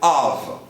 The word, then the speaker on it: of: em inglês é of dá uma olhada nessa pronúncia o som final é V Av para encerrar o